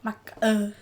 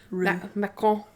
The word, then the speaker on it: macaron: How would you say it in French? Macaroon. Oh. Macaron. Macaron. Like a croissant?